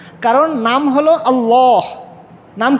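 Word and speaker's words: الله: কারণ নাম হলো আল্লাহ। নাম কি? আল্লাহ। লাম সাদ্দা যুক্ত লাম আলিফ মানে খারা জবর এরপরে হা এর মাখরাজ হলো এখানে কন্ঠনারের নিচের অংশ আল্লাহ আল্লাহু আকবার এখন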